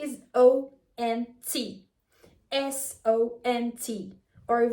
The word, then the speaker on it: sont: The spelling is O-N-T, S-O-N-T, or V-O-N-T. But the T is always silent, and also the sound is kind of nasal.